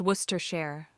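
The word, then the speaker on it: Worcestershire: The bartender leans in conspiratorally and whispers, "It's pronounced Worcester Share.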